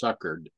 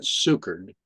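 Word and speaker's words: succored: So looking it up to understand what it means to sucker, which I pronounced in the past suckered, but sucered, is an assistance in time of distress or relief.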